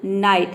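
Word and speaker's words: night: न प्रोनाउंस करते हैं, जैसे कि नाइट। यहाँ पे देखिए एन का न हो जाएगा। यहाँ पे भी आपको ध्यान देना है, GHT एक साथ आया है तो यहाँ पे GH साइलेंट रहेगा। आई का हो जाएगा आई, GH साइलेंट है, टी का हो जाएगा ट, पूरा हो जाएगा आपका उच्चारण नाइट।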